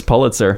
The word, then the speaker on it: Pulitzer: wow take your bits how what's pronounced sir pulitzer that's my guessing it's pulitzer it's actually pulitzer gosh okay i love